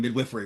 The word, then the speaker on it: midwifery: of midwifery, which I had been a totally mispronouncing and b I love saying midwiffery.